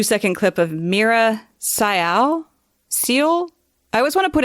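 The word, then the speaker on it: Syal: clip of Mira sayal seal I always want to put a t in it I always want to say steel and I know that's wrong I don't want to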